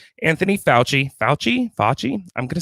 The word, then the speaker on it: Fauci: Number 4, Anthony Fauci.